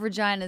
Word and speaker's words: Regina: Because the slogan of Regina is the city that rhymes with fun.